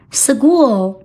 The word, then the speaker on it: school: 身体 leg 腿 foot 脚 school 我们听起来是 school 两个清辅音遇到一起时发音非常的费劲这时方便发音我们会把这个 k 轻轻的浊化成 g school 学校跟着小雅老师学英语每天进步一点